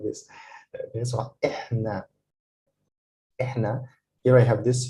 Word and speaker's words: إحنا: This is how to pronounce them. It's أنا, أنت, أنتي, أنتو, هو, هي, هم. And the last one is إحنا.